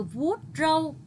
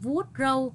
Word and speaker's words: vuốt râu: Khi đọc từ vuốt râu, lưu ý đọc tròn môi. Đầu lưỡi đặt giữa hai hàm răng khép lại ở tiếng vuốt. Đọc đúng âm R ở tiếng râu.